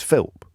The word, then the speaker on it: Philp: he just philps sorry philps singular I think philp singular I don't know why I'm getting pedantic about that but I I don't want him getting off the hook because people are getting his name wrong it's p h i l p Chris philp carry onil and uh